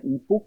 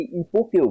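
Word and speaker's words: epoché: Actually 3টা হচ্ছে, একটা হচ্ছে হুসার্লের যে ফিলসফি রয়েছে সেটা ফেনোমেনोलॉजी, সেখানে তোমরা ইপোক নামক এক বিষয় পাবে, অনেকে ইপোকেও বলে এটাকে, অ্যাকচুয়ালি এটার মেন উচ্চারণ হয় ইপক, ইপক মেকিং প্রসিডিওর।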